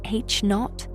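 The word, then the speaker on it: H₀: The Hubble constant, denoted H0, pronounced H naught, is the number that describes the current rate of cosmic expansion.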